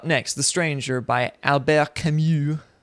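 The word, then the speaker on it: Camus: Up next, The Stranger by Albert Camu is the French pronunciation.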